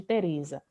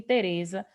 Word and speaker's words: Teresa: parte, por exemplo, de Teresa. Eu não poderia dizer para este e para os outros também, jamais, que a sílaba tônica de Teresa seria za.